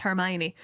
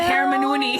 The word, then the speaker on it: Hermione: head and then working out that oh it's pronounced Hermione not Hermoni as everybody has been saying up until that point. Hermon. Hermoni.